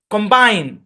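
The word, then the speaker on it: combine: সোয়া sound ব্যবহার হয় কম্বাইন এখানে আই এর লং সাউন্ড ঠিক আছে কিন্তু এখানে ও এর শর্ট সাউন্ড হবে না কারণ এই অংশে স্ট্রেস নাই বুঝছেন এই অংশে কি নাই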